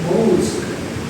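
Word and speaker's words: mosque: Cara bacanya adalah most ada yang mati di belakang ya.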